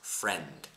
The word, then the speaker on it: friend: zero zero Amigo friend imagine the I does not exist when you pronounce it friend then uh also says